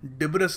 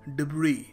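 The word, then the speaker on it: debris: जैसे है वो है तो यहां पर डिबेस नहीं है मेरे भाई यह है डिब्र डिब्र यह देखिए वर्ड काफी लोग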